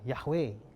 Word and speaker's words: Yahweh: kenal nama Tuhan itu kita bilang yahwe itu bacanya tapi kalau tulisnya yhwh yuk Hei Wow Hai